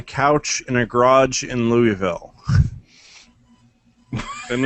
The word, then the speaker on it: Louisville: leave it that and Louisville fantasies just don't call it Lewisville no matter what you do I know it's spelled that way but yeah it's it's